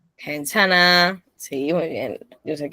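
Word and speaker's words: 괜찮아: Entonces, ¿cómo se pronuncia? Quenchana. Kenchana. Kenchana.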